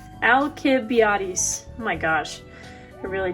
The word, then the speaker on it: Alcibiades: I spelled his name wrong. There's no L in it, so it is Alcibiades.